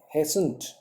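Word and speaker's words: hastened: Mrs Pomfrey हेसेंट, इसमें T silent हो जाएगा।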